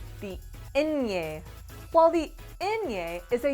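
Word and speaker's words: ñ: a pretty simple letter it is pronounced like a combination of an in and a yay for a inye sound let's practice repeat after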